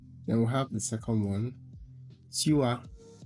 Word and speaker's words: tu as: Then we have the second one, tu as, it's not tu, tu as, there's a y somewhere there, a subtle y somewhere there, something like tu as.